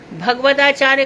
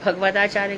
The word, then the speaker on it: भागवताचार्य: हम किसी को भागवताचार्य बोलते तो भागवताचार्य बोलो ना, भगवताचार्य कहाँ से आ जाता है। क्लास के आधे लोग भगवताचार्य कहते हैं। भगवत तो भगवान है, भागवत में जिसको डिग्री मिली आचार्य की तो भागवताचार्य बोलो।